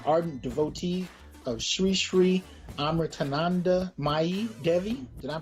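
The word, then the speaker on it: Amritanandamayi: Is an ardent devotee of Sri Sri Amritananda Mai Devi. Did I pronounce that right?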